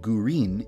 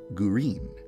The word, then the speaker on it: Gurin: Midori is the Japanese word for green, and Gurin is the Japanese pronunciation of the English word green. So I decided to name her Midori Gurin.